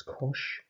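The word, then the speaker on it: cosh: the hyperbolic function for cos uh which we pronounce as kosh and that's defined as very similar to the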